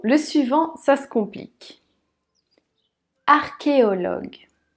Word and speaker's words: archéologue: suivant ça se complique archéologue archéologues art comme le début d'architectes qui est oui ici ce n'est pas le son chaud mais que qui au log le u